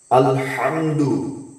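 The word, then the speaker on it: الحمد: আলহামদু আলহামদু আলহামদু বড় হা উচ্চারণ করতে হবে।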